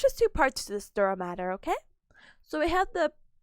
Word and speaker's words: dura mater: So dura matter, or I think they say dura mater, I think that's the pronunciation.